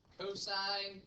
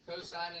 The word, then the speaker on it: cosine: It's pronounced sine, cosine, and tangent. Okay? Sine, cosine, and tangent.